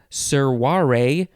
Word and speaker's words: servare: From the Latin servare. The only reason I know how to say this is because I took Latin. The V is a W sound.